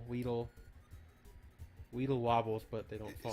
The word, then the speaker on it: Weedle: Weddle, Weedle. Weedle wobbles, but they don't fall down. Is it pronounced Weddle or Weedle? I actually do Weedle not waddle. know.